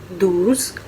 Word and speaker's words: douze: आप स्क्रीन पर देख सकते हैं इनकी स्पेलिंग ओन्स। 12 को कहते हैं दूस।